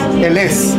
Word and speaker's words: Ellesse: Ellesse.